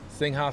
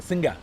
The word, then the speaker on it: Singha: Singha soda, baby. Singha. Singa. Singa. I was saying it wrong all these years. I always say singha, but it's actually singa.